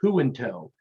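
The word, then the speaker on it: Junto: he did his thing in in and it's pronounced who in tow and his j-u-n-t-o and that was his style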